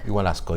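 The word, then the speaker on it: Ischigualasto: went to the Valley of the Moon, or Igualasco, is that right? Igualasco, yeah.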